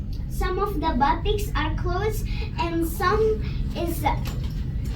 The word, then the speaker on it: batik: Batik.